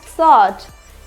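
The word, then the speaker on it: sword: answer answer सॉर्ट answer सॉर्ट यहां पे W silent तो क्या बोलेंगे इसे एस पढ़ेंगे और ओ आरडी तो क्या हो जाएगा सॉट यहां पे आंस और अर आंसर क्या हो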